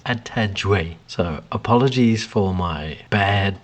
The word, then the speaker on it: Atadwe: So today I bring to you Atadwe milk, or tiger nut milk. Right after that atrocious pronunciation, I have been corrected and it is Atadwe.